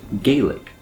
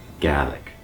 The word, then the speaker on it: Gaelic: If you live in the United States or another country outside of Scotland, you might see this word and pronounce it Gaelic.